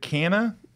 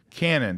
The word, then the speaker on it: Canaan: I want to go to, I never say it right, is it Canna? Canaan. Canaan.